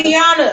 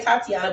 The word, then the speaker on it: Tiana: Tiana. I always want to say Tatiana, but it's not Tatiana.